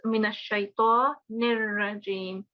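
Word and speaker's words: من الشيطان الرجيم: We don't have any noon or noon gunna. It's minash shaitanir rajim.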